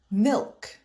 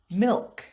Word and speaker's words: milk: l is pronounced but in the word yolk the l is silent milk milk yolk yolk in the word shoulder the